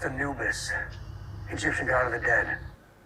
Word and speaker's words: Anubis: ship was hit it's called the Angeles it's pronounced Anubis Egyptian god of the dead that's what Miller